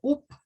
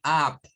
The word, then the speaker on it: up: Pero el sonido es más como una especie de A. Realmente, de acuerdo al IPA, es una mezcla entre una A y una U. Entonces, esta palabra no se dice up, sino que se dice up, up, up.